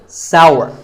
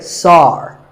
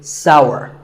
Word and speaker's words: sour: It's pronounced sour. Some people say sour. That is a mispronunciation. The only correct way to say this word is sour.